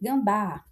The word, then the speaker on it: gambá: Como eu já falei, xará, vamos para aqui gambá. Olha o gambá. Perceba que eu puxo mais a última sílaba. A última sílaba aqui é forte e é terminada na vogal A.